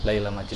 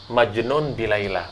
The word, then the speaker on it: Majnun bi Laila: Sebenarnya yang benar dalam pelafatannya Majnun bi Laila, orang yang tergila-gila dengan Laila. Nah, ketika si siapa namanya si Qais ini gila, ayahnya bingung gimana caranya mengobati ini.